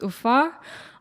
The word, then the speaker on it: Ufa: name of the capital of our Republic It's UFA um so and this picture for me illustrates